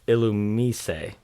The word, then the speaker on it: Illumise: i say it says illumi's elements uh let's see illumi's oh my god that's right the japanese pronunciation is illumisei the se at the end makes us say illumi but we're not in japan we're not okay do